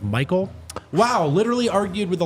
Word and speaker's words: Michael: Rock, Mikhail. It's actually pronounced Michael.